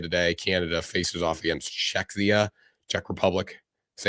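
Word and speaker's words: Czechia: Canada faces off against Czecha. Czech Republic. Is that how you say it? Czech Czecha. Checka.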